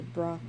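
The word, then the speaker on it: bruh: How do you say bra? Like bro.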